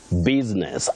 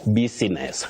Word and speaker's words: business: Lennox and Emily of Kongowea, Mombasa, you say business, not business. Business, no, business.